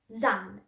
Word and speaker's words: Xan: And also it's pron it's pronounced Zan. It is spelled X A, but it's pronounced Zaman.